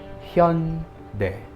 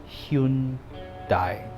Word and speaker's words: Hyundai: The correct pronunciation of that is Hyundai. Hyundai. Hyundai. But because of Romanization, many people thought it's Hyundai. Hyundai. Hyundai. Hyundai. Know the difference.